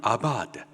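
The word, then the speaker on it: עבד: 섬 하라 여기서 섬기다 히브리식 발음으로는 아바드 뜻은 섬기다 또는 종이라는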